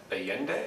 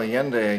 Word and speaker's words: Allende: foul play so let's move on to uh alien day is that the pronunciation yeah well alien day again president of chile and um allende went